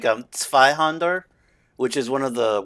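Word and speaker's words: Zweihänder: I'm pretty sure it's just kind of like Zweihander, which is one of the weapons you can get actually up in the cemetery, up in by Firelink Shrine, is two-hander in German. So Zweihander. Yeah. Not Zweihander. Zweihander.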